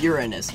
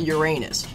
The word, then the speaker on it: Uranus: aren't i number one the preferred pronunciation of the planet's name among astronomers is uranus not uranus just getting that done